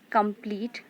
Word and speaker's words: complete: So complete word also has two syllables. Here come is unstressed and pleat is stressed.